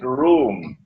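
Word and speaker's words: Rum: This is his prophecy, that Muslims are going to form an alliance with Rome. It is pronounced as R-O-O-M, Rome, but the Arabic word Rome is, it describes Eastern Christianity.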